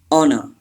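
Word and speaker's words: honour: Number six, honor. Yes, H is silent and R is also silent.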